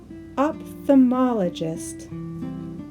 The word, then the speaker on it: ophthalmologist: this is an opthamologist how many syllables does that word have opthamologist opthamologist there are five syllables the AL opthamologist office